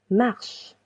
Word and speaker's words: marches: Tu marches. Tu marches. Letter S. is silent.